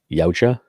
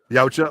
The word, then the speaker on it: Yautja: How do you pronounce it? Yautja. Yautja.